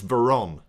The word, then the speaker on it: Veron: I've been putting an extra N in his name. It's Veron, not Vernon.